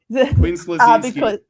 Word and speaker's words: Quinn Slazinski: Quinn Slazinski.